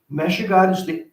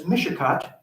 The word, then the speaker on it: Meshigod: Meshigod is the proper pronunciation of a name that was mispronounced as Mishicot, for which that little town is named.